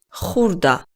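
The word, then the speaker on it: ხურდა: small notes or coins Holda this word also starts with that sound that you must produce from back of your throat pay attention and repeat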